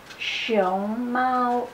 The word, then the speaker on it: 熊猫: see it's very different so as you can see that show mo its second tone and first on and show Mao its first time and second time so it's actually just